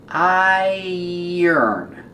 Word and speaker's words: iron: Remember pronunciation iron. It has the sound like tire and fire and drier.